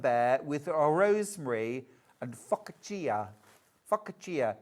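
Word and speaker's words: focaccia: with a rosemary and fakia." Fakia. Is it fauxacia? I can never say it properly. Facia. For catcher. For catcher. Thank you.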